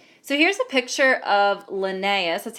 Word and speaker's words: Linnaeus: can classify organisms so here's a picture of linnaeus that's how you pronounce it Linnaeus is famous for coming up